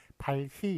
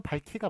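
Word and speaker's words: 밝히: 발희 이런 식으로 발음은 발키가 맞아요. 왜냐하면 저기 뒤에 그 기억하고 히읗이 축약이 되거든요. 축약이 돼가지고 키읔이 되기 때문에 발키라고 발음하는 게 맞습니다만, 하여간 여러분의 그 설명의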